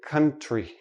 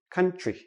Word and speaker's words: country: When we have TR together usually sounds like CHR. So we don't say country. We say country.